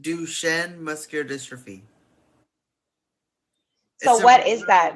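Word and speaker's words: Duchenne: it's it is pronounced duen muscular distrophy what is that big word it's a really big word um but it comes it's French if that makes sense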